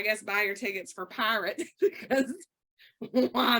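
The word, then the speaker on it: Pyrt: it is called and it's p-y-r-t pronounced pirate like I'm about to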